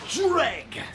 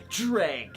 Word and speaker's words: JReg: It's pronounced JReg. What? Yeah, it's not some big mystery. It's like dread, but with a G at the end. JReg.